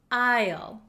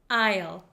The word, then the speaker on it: aisle: this one is tricky there is an s in this word however we do not pronounce this s we do not pronounce it we pronounce this word aisle Isle aisle so it is the